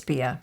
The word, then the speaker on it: Beah: It was only after much research that I realized it's BEAH.